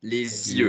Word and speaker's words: les yeux: Les yeux? Avec la liaison, les yeux.